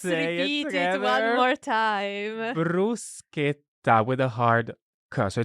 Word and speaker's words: bruschetta: brus let let repeat it one more time brusa with a so it's not Bretta it's brusa okay it's really really important and